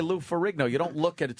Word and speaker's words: Lou Ferrigno: It's just Lou Ferrigno. You just say Lou Ferrigno.